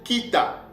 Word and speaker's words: Kita: Ce mot-là, c'est prononcé Kita. Ok? Parce que nous avons le Kof, le Yod et le Tzadik.